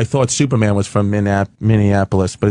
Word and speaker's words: Minneapolis: two weeks ago in Minneapolis for the All-Star game for the baseball what are you calling it Minneapolis that's wrong how do you say it Minneapolis Minneapolis yeah and in the